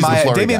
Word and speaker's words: Maia: Who's No, Damian Maia Maia has more of the traditional jiu-jitsu body where he's like a little lengthier.